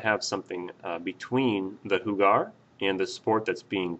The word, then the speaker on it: jugar: right one okayo Hugon so that's how you pronounce the ver hugar and we're going to use it to talk